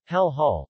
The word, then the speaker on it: Jalajala: Jalajala, Tagalog pronunciation, Hal Hal, also spelled Yala-Yala, officially the municipality of Jalajala,